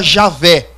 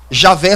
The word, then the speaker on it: Javé: Outras pessoas defendem, e essa é a terceira teoria, de que a pronúncia mais exata do nome de Deus seria Javé. Javé seria a pronúncia mais exata.